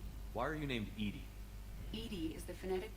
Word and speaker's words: EDI: airlock is ajar why are you named ed ed is the phonetic pronunciation of Ed I that is an acronym